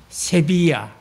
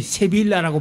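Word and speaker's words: Sevilla: 그 중에서도 가장 악명이 높은 게 세비야, 소위 세빌라라고 발음을 합니다만 스페인어에서는 L자가 허민 발음을 안 하는 경우가 많아요. 세빌라의 이발사가 아니고 세비야의 이발사지요.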